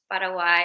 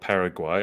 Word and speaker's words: Paraguay: going to be representing I call it Paraguay I've heard you say it multiple times as Paraguay so I'm going to try and pronounce it properly yeah I mean I